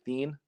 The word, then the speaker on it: Then: It's actually Thien. It's spelled T-H-E-N.